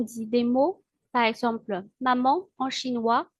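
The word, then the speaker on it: 妈妈: Mais quand on dit des mots, par exemple maman en chinois, on dit mama. La première syllabe ma possède le premier ton, alors que la deuxième syllabe ma est un ton neutre sans indicateur.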